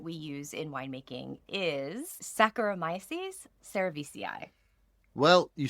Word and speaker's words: Saccharomyces cerevisiae: And then finally, I have practiced my pronunciation. Yes, you have. Our main yeast that we use in winemaking is Saccharomyces cerevisiae.